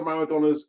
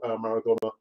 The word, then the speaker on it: Maradona: The other news that I actually wanted to kind of tell you about was apparently Diego Maradona's a younger brother, Hugo. It's not Hugo. I mean, in Spanish, you don't pronounce the H, it's silent, so it's Hugo.